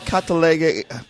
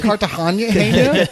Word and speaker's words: Cartagena: What's so hard about Catalega? Isn't that Cartagena?